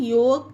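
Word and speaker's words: yolk: चाक वा टक फोक योक चौक ये सारे वर्ड में के से पहले एल है इसीलिए एल साइलेंट है यहां पर आप पढ़कर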